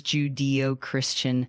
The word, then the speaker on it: Judeo-Christian: Uh the word Judeo-Christian is pronounced as Judeo-Christian.